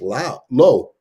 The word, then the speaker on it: Liu: Lizard by Jason Liu, which I just found out we've been pronouncing wrong all this time, but because he does that on purpose, but it's actually pronounced low.